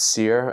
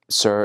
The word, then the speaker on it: CIRR: org Cir ror g i-- pronounces sir samu pronounces sere I think sir is the right way and again since for